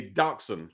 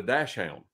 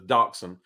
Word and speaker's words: dachshund: But some people call it a dash hound. Because if you look at the way it's spelled, it looks like dash hound. But the proper pronunciation is dachshund.